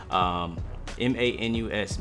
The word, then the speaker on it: Manus: M-A-N-U-S, Manus.